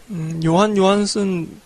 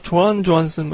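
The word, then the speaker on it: Jóhann Jóhannsson: 요한 요한슨 혹은 조한 조한슨 이렇게 발음하기도 하던데.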